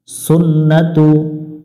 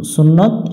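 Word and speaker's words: سنة: হয়ে তারি সালাতি তার সুন্নাতু যেহেতু তারাবির নামাজ পড়া হচ্ছে সুন্নত এজন্য আমরা এখানে সুন্নাতু বলবো সুন্নতে অনেকজন এভাবে পড়ে বা সুন্নাতে এভাবে পড়বো না আমরা সুন্নাতু এভাবে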